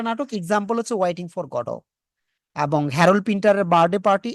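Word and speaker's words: Godot: উচ্চারণটা কিন্তু গডট না। আপনারা কি গডট করতেন না গডো করতেন উচ্চারণটা? আমরা গডত করতাম। গডব। এটা কিন্তু ওয়েটিং ফর গডো।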